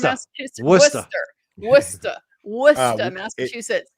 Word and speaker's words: Worcester: going to have to help me with the pronunciation, Mike. Is it Worster, Massachusetts? Worcester.